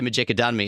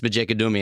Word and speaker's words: Maduni: A lot of people say Majadi. It's Maduni. And I know that cuz I asked him after mispronouncing it.